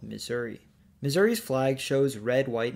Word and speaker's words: Missouri: their language the WHUR the French pronounced it as Missoura which later American settlers then called Missouri Missouri's flag shows red